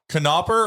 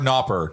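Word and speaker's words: Knoppers: from brown cows so the canoper or nopper do we pronounce the k or not we pronounce it we pronounce it oh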